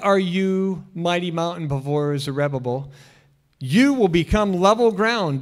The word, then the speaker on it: Zerubbabel: Now, if you've heard this pronounced differently, Tell me later. Don't yell it out now, okay? We're just going to go with Zerubbabel, or I've heard Zerubbabel.